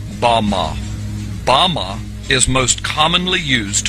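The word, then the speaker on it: במה: The Hebrew word used in this text for the heights from which Satan fell is Strong's Hebrew word 1116 pronounced Bama.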